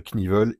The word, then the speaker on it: Knievel: aussi à ma connaissance le seul cas de figure où dans la langue anglaise on prononce le K devant le N donc surtout pas à faire avec le moteur knuckleed que beaucoup prononcent knuckleed là on le prononce pas en revanche avec le cascadeur evel knivel il faut le prononcer alors euh j'entretiens une